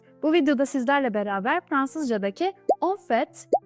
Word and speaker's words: en fait: Türkçeye Aslında şeklinde çevirdik Bu arada telaffuz konusunda da bir uyarı yapmak istiyorum Çünkü bazen onf şeklinde söylendiğini de Duyabiliyor öğrencilerden Ama mutlaka sondaki t'yi telaffuz ediyoruz on fet şeklinde söylüyoruz an derken de orada bir Nazal sesimiz var Ona da dikkat edelim an veya n demiyoruz kesinlikle diyoruz on fet Şimdi de ofet bir